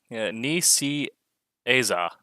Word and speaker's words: Nicieza: So In the YouTube chat, Roland has given us a pronunciation guide using the Webster's Common Format. Nicieza.